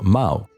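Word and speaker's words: 猫: The word cat in Chinese is called Mao, with a pronunciation very similar to the name of the famous dictator.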